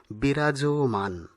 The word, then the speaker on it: বিরাজমান: পরেরটি বিরাজমান, এটি হবে সঠিক উচ্চারণ, বিরাজমান উচ্চারণ সঠিক নয়, সঠিক উচ্চারণ বিরাজমান।